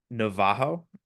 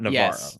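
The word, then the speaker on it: Navarro: was originally expecting but is it Navajo not Navaro right hael Navajo the Double R is weird in Portuguese and then the ra is actually ha so funnily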